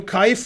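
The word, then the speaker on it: Kuijf: somebody looked that game up Anand was black at a ponziani against Kaif Kaif is spelled k-u-i-jf and there's two kaifs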